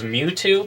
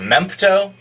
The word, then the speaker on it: Mewtwo: he would play uh he had very interesting ideas on the pronunciation of certain characters names such as well this was in super smash brothers melee uh he i guess he didn't read it as mewtwo but as a mempto so uh mempto was